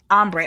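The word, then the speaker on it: Ambré: Ambre or Ombre? Ombre.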